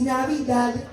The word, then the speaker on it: Navidad: Feliz Navidad. Recuerden que lo habíamos dicho. Esa D tiene que sonar. Está bien en inglés, lo digamos mal, pero la D la quiero, que se escuche clarito.